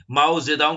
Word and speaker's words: Mao Zedong: से तुंग, या हम कह सकते हैं कि माओ जेदांग भी बहुत से लोग बोलते हैं उनको। तो अलग अलग नाम, क्योंकि चाइनीज प्रोनाउंसिएशन है, उनका नाम अलग तरीके से देते हैं।